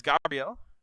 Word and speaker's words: Gabriel: I keep forgetting to pronounce correctly. He pronounces it as Gabrielle.